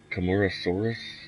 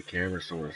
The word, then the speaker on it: Camarasaurus: I don't know, speaking of Camarasaurus, I like to say Camarasaurus because it's literally spelled the same. But they say it Camarasaurus. You can pronounce it however you want, but that's Camarasaurus.